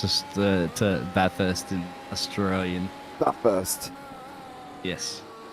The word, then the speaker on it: Bathurst: I'm gonna show everybody this is how you pronounce this the the Bathurst in Australian that first yes but first it's not bath first anyway actually technically it's actually Mount panorama if